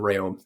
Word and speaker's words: Rheaume: Uh, a little bit easier for people to pronounce than Ray.